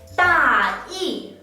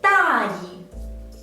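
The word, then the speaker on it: 大意: tone, it will be 大义, which means the general idea. But if we pronounce this character the neutral tone, 大义, 大义, it means careless.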